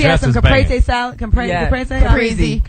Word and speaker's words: Caprese: Caprese? Caprese. No, I'm Italian, bitches. That's how you're supposed to say it. Whatever. Americans say Caprese.